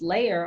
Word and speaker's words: Lair: It's called the Lair, pronounced layer, almost like a dragon's lair.